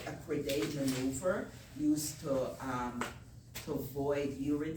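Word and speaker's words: Credé: The Crede is C-R-E-D-E. Is that how you spell it?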